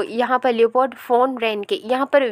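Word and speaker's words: Leopold von Ranke: तो यहाँ पर लियोपोल्ड फोन रेनके, यहाँ पर वी जो है, यहाँ पर वी है, लेकिन जर्मनी में वी को F के तरह प्रोनाउंस किया जाता है, तो इसलिए यहाँ पर होगा लियोपोल्ड फोन रेनके, राइट।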